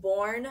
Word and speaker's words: Bjorn: better than the Littman did confirm it's actually pronounced born I'm the jeaious silence